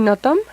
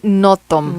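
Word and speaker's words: Nothomb: decirnos que es graciosa y con es amely notom amely notom notom ella es belga Ajá escribe en francés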